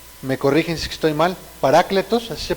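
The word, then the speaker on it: παράκλητος: En griego es, me corrigen si estoy mal, parácletos, así se pronuncia, hermano, ¿sí?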